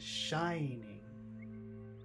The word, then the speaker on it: shining: in that phrase is shining shining two syllables the first syllable is very big shining on him is